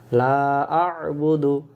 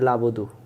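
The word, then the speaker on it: لا أعبد: লা আ বুদু, আর যখন আর এই 2 অক্ষর উচ্চারণ হচ্ছে, লা আ বুদু, আমরা বলি লাবুদু, লাবুদু, লা আ বুদু মা তা বুদুন, এখানে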